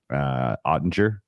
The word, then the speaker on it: Oettinger: And I got to say, of all of the goalkeepers so far, the Oettinger for the Stars, is that how you pronounce it?